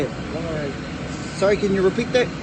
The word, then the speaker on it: Whangarei: So there's three things wrong with that word that people always mispronounce. And the first part is the WH, because everyone always gets that wrong. Also the NG, and the last part is the R.